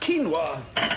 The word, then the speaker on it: quinoa: Um, just a medium quinoa salad, please. It's pronounced quinoa.